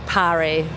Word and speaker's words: Parry: It's Parry. It rhymes with Harry. Yeah, I'll try and Welsh name.